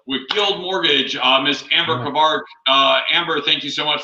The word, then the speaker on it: Cavazos: So, and as everybody knows, each week we have a special guest on, and Andrew Cavazos. Am I saying it right? Yeah, Cavazos.